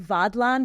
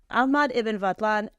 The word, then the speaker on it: Ahmad ibn Fadlan: I keep saying Vadlan because in Welsh the one F is pronounced like a V, and he's a vaudevillian actor. Yeah. No. Ahmad ibn Fadlan.